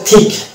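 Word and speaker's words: thick: হ্যাঁ, তারপরে হচ্ছে থিক। এখানে দেখতে পাচ্ছি সি কে পাশাপাশি আছে এবং সি কে পাশাপাশি থাকার কারণে সি সাইলেন্ট হয়ে যাচ্ছে এবং কে এর উচ্চারণটা আসছে ক।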